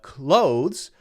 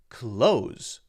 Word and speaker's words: clothes: get the close and you can say this clothes if you want to but a lot of people just say it the same as c-l-o-s-e which is close Okay the close let's